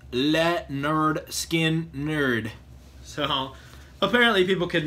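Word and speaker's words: Lynyrd Skynyrd: I think it's funny because this actually says pronounced Le nerd skin nerd so apparently people could not pronounce it back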